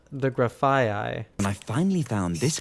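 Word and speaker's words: Grafaiai: good they do say it so it's called graphi I was about to say I'm going to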